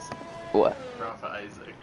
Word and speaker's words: Isaac: of uh rafa sizzak um isaac ralph isaac as i uh just found out how to pronounce his name so we'll ride with